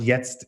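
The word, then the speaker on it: jetzt: is um the the piece called yest and yes it's a german word for now okay and it came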